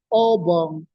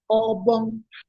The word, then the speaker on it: Obong: Thus we have, for example, Obong, high, low, meaning Lord or King. We also have Obong, high, high, meaning mosquito.